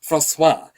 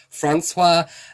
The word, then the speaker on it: Francois: totally fair because officially, the official pronunciation of my name is Francois. But, you know, I get all different variations. The closest anyone's come to it is Francois. The most common way that people have pronounced my name in Australia is Francois.